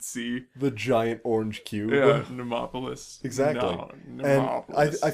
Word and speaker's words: Mnemopolis: like, I think they wanted I said I would never mispronounce it. Mnemopolis.